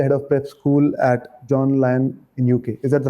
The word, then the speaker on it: John Lyon: And you were recently the head of prep school at John Lyon in UK. Is that the right pronunciation?